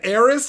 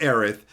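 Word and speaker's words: Aerith: believe it because he said AIS instead of aith and he said separo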